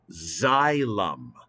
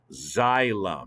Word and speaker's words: xylem: xylophone in music class well this word is pronounced like a z zylum xylem everybody look at the